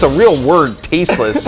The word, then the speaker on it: Tasteless: Should have seen how long it took for Tasteless to make me not call him Tassels.